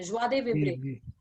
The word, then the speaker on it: joie de vivre: joie de vivre, इसको ऐसे pronounce करते हैं, joie de vivre।